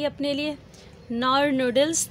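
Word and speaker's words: Knorr: बनवाई थी अपने लिए, नॉर नूडल्स, तो ये फिर थोड़े से नॉर होता है, के साइलेंट होता है, तो फिर हम अब ये इन्जॉय कर रहे हैं पार्टी इन्जॉय।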